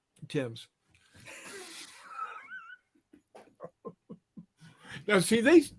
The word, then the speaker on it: Thames: when we have him on, we're going to ask him for the pronunciation of the Thames. Tim's.